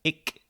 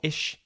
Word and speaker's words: ich: sounds are fully acquired, we hear things like ik or ish instead of ich. And to be fair, these are valid pronunciations of ich, even among native speakers. In certain parts of Germany, you might hear people say ik or ish depending on the region.